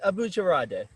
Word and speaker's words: Abojaradeh: close yeah okay and so how do you pronounce it again it's abuja radhe oh I'm Moochi rowdy yeah okay that's perfect